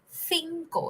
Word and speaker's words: cinco: It's the tongue in between the teeth pronunciation, cinco. Okay. So as you can also see, C is pronounced in 2 ways in Spanish. One is th and the other is normal, k, cinco.